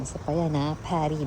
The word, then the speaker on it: Paris: Pary basa doon hindi Paris. Pwede rin sa mga ano sa ibang tao na hindi French pero mga French gagamit sila. Paris ang tawag par kasi nga hindi nila pina-pronounce words that end in s DX.